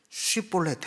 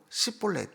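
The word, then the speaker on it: 쉽볼렛: 그래서 쉬볼렛 해봐. 그럼 걔네들은 쉬볼렛 그래도 쉬볼렛 못하고 시볼렛 이렇게밖에 못하는 거예요.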